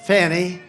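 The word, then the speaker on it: Fani: after another you had fonnie fa n i which is usually pronounced Fanny but she added a little action to it funny that was a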